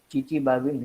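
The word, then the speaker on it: Chichibabin: इसमें आगे टी आता है लेकिन टी साइलेंट है, इसीलिए इसको चिचिबाबिन रिएक्शन कहा जाता है, बोला जाता है।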